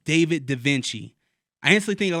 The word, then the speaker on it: Davenchy: But I was like, I don't want it to be spelled like, Leonardo da Vinci. I just spelled it like Givenchy at the end.